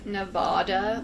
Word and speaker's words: Nevada: You PJ so okay with the Spanish pronunciation it says Nevada but you probably don't live there locals usually pronounce it no bad okay there she I